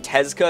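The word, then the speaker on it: Tezuka: her she's cool and the only reason i know how to say her last name tezka is because i watched this anime prince of tennis and it's the name of one of the characters otherwise i would have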